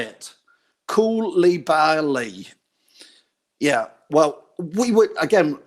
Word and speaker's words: Koulibaly: Koulibaly.